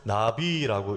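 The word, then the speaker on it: נביא: 선지자는 히브리어로 나비라고 읽습니다.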